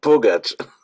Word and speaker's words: Pugach: pronunciation of your last name proper can you pronounce it for me the right way pach pach yeah I thought I want to be